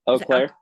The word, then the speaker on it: Eau Claire: So this comes from April, and I don't know how to pronounce this. Is it Eau Claire? I know this is in Wisconsin. Eau Claire.